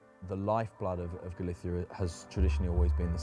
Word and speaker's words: Galicia: This is David's Galithia. Excuse me. Galithia Galissia.